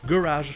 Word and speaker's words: garage: Mais de l'autre côté, les Américains ont décidé de garder la fin, la deuxième syllabe. Rage. Et même de garder le son je. Rage. Donc ça veut dire que la première syllabe n'est pas accentuée, donc vous trouverez le son E ou E. Et ici, le plus joli, c'est E. Ce qui donne garage.